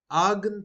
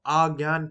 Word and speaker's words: Argand: Now, about Argand plane, this is pronounced as Argand plane or Argand plane. So it's up to you. It depends on, whichever pronunciation you use. So I'll be using Argand plane.